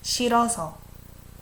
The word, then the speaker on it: 싫어서: Even here, I didn't say 싫어서. We just almost make a silent H. 싫어서.